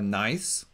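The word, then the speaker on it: gneiss: granite in sedimentary rock would be a nice like pronounced like nice it has bands of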